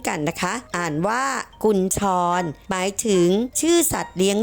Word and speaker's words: กุญชร: คำ นาม เช่น กัน นะ คะ อ่าน ว่า กุญชร หมาย ถึง ชื่อ สัตว์ เลี้ยง ลูก ด้วย นม